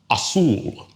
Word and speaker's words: azul: Or let's take the word assul. Okay? Ends in an L. So that's outside of our general rule. So stress falls on the last syllable or daughter.